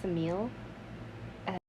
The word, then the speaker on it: Semele: I think it's pronounced Semele.